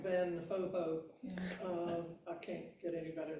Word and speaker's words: Van Gogh: Vincent Van Gogh, which I've learned and now forgotten how to say his name correctly, but it's something like Van Ho.